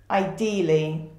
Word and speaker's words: ideally: of a clause and we stress the second syllable ideally